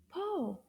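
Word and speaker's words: pot: Yo-yo and po rhyme together. Even though the last letter is not O, the T is silent.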